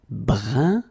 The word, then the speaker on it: brun: Then another example, brun, brun, okay, fin, brun, fin. So you write it differently, but then you pronounce it like the first one. It's un, un, okay?